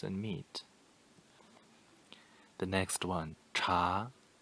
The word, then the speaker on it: 茶: meat the next one cha cha second tone rising tone cha means tea to